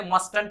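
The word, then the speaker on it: mustn't: अब इसके टी का साउंड को प्रोनाउंस नहीं करते, मस्टंट नहीं बोल के मस्टंट बोलते हैं।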